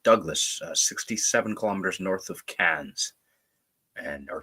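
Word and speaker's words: Cairns: 67 kilometers north of cans and or k but they pronounce it can and that is a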